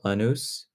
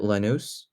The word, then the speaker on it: Lanús: He obviously is going back to Argentina to play for Lanús. I think that's how you pronounce it, Lanús.